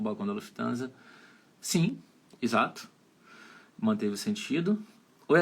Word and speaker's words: Lufthansa: falar para vocês como é que seria a pronúncia em alemão Aparecido Onde fica o balcão da Lufthansa sim exato Manteve sentido Oi Adriana beleza Ó